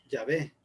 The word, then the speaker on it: Yahvé: Realmente el tetragramatón son 4 letras y según los estudiosos la forma más ideal de pronunciarlo es Yahvé en español y Yahweh en inglés, si no me recuerdo